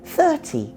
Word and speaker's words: thirty: With numbers like 30, 40, 50, the stress is always on the first syllable. That's true in British and American English. 30, 40, 50.